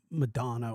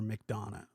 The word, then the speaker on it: McDonough: And it's McDonough, not like it's not Chris Madonna or McDonough.